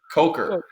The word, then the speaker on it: Coker: Jaylen Cocker. Koker Coker.